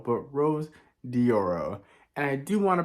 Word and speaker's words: Rose Dioro: one the only Rose diorio and I just mispronounced her name again so it's Rose dioro not Rose diorio but Rose dioro and I do want to preface that this